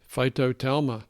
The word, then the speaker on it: phytotelma: We have some very sophisticated listeners out there, and they're going to want to look up that term, which is, pronounce it again, David. Phytotelma.